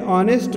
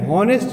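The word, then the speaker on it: honest: ठीक है, और एन ऑनेस्ट बॉय, एन हॉनेस्ट नहीं बोलते हैं।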